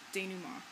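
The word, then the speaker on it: dénouement: falling action and danuma that's a French word that's how you pronounce that word there at the end danuma so Exposition is the part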